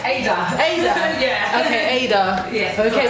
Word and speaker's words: Ada: Hi, am I pronouncing it right? Ada.